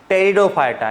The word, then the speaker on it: Pteridophyta: अगला वाला टेरिडोफाइटा, यहाँ पे पी साइलेंट है, ध्यान रखना।